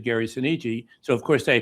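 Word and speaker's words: Gary Soneji: I said Gary Seniji. So of course they pronounce it soni in the movie but you know do they do what they want to do out there.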